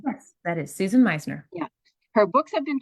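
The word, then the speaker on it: Susan Meissner: Is that how you pronounce her name? Yes, that is Susan Meisner.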